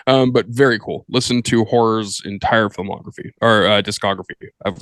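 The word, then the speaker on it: HO99O9: First one, musically, I recommend that you go check out Horror. Literally, it's spelled HO9909.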